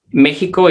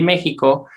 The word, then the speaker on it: México: aunque nos explican aquí que la X se pronuncia como J. Y aquí en mexicanismo mexicano, en este sí lo ponen con X, pero nos explican que se debería de pronunciar con J.